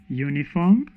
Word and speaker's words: uniform: are those ones include uniform uniform so you see that is a vowel but the sound is a consonant uniform so you say a uniform not an uniform eulogy a eulogy a